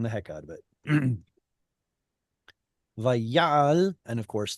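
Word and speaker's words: וַיַּעַל: Vayal, and of course, the stress being put on the yod is a result of apocompation. And again, see how it's a short vowel in an open syllable? Not allowed unless it's stressed, and it is.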